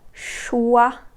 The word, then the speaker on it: choix: The sound wa can be spelled with the letters O-I. The way you pronounce this sound is the same way as the word what in English, this wa sound.